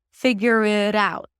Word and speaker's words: figure it out: next word and then the T becomes a flap T because it's between two vowels.